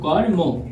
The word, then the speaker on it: কর্ম: এর উচ্চারণ রীতি হলো কর্ম।